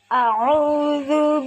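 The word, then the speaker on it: أعوذ: A'udzu billahi minasyaitonir rajim. Bismillahirrahmanirrahim. Qul a'udzu birabbil falaq. Ayat 1. Qul a'udzu adalah mad tabi'i karena ada wawu sukun sebelumnya harokat dhammah. Panjang bacanya 2 harokat.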